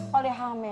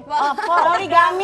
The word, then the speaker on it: poligami: Kata waktu itu pernah sempat polihame ya. Apa? Polihame. Poligami. Poligami kalau dia di luar bacanya A gitu. Kayak bahasa Spanyol gitu.